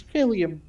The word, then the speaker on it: Philium: Spelled exactly like you think it's spelled. Is it a PH or an F? PH. Oh my gosh. So like helium, but with a fucking P at the top front No, of it.